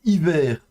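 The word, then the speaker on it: עִוֵּר: Ça ça se prononcera donc hiver.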